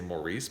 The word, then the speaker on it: Maurice: somebody pointed out that it's pronounced morris in the uk and i will never